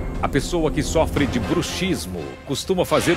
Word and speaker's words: bruxismo: pessoa que sofre de bruxismo costuma fazer o quê essa é uma pergunta fácil três feitiçaria grande cels Portioli a pronúncia está errada o certo é bruxismo e eu sei muitos